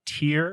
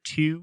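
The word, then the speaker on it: Týr: It's said that the great god Tier or two, it's sometimes pronounced, was the only one who had the courage to go up to him and actually feed him.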